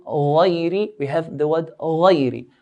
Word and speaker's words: غير: We have the word غير. غين is from the heavy letter, so we pronounce it in a heavy way.